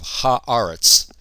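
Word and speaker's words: הָאָרֶץ: Eretz is one of a handful of words that when we put a definite article on it, the vowel in the first syllable changes, and so it becomes aretz instead of eretz. So we have ha'aretz.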